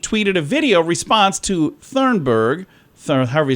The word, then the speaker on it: Thunberg: Thornburg? How do you say it? Isn't it Thornburg? I don't know. There's not an R. If there is, maybe it's not in this. Yeah, it just says Thunberg. Thunberg.